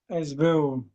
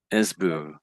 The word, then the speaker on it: SBU: Esbu. Esbu. Esbu. Yeah. So I tried to copy that. I just said the esbu. I said the esbu.